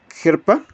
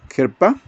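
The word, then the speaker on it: חרפה: 2781 que es abominación la palabra se pronuncia gerpa herpa esa palabra se deriva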